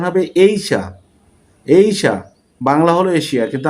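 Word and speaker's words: Asia: উচ্চারণ হবে এইশা। এইশা বাংলা হল এশিয়া। কিন্তু আমরা বলি সবাই এশিয়া। সঠিক ইংলিশ উচ্চারণ হল এইশা।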